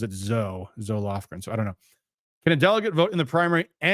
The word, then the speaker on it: Zoe Lofgren: I usually hear it pronounced Zoe, but I know there's a congresswoman who pronounces it Zoe Lofgren.